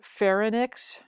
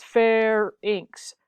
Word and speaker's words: pharynx: about this there are people who like to pronounce it fair enix it is not fair anacs it is fair inks fair inks if the word were ly and X you would call it links that would be like